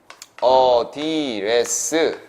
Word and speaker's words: address: 자, 메모리 A, A가 어디레스 라고 발음을 해요.